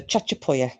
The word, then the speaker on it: Chachapoya: the chat so joe would that be chachapoya or chakapoya was it a hard c or a chair because i don't like